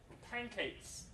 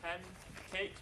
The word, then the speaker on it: pancakes: Pancakes. We don't say pancakes, we say pancakes. So the alveolar N changes to a velar sound.